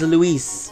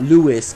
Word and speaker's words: Luis: Anyway, it is Luis when it's spelled L-U-I-S, not Lewis, because Lewis is with an O in it.